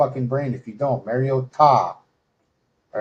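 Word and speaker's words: Mariota: I wanted you to make sure that we we pronounce this correctly. Mario Ta.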